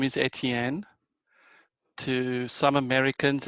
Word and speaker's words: Etienne: Well, it's French, so Etienne. How do Germans pronounce it?